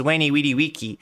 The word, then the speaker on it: veni vidi vici: Oh, he pronounced his V's like W, so it wasn't Veni Vidi Vici, it was Weni Weedy Wiki.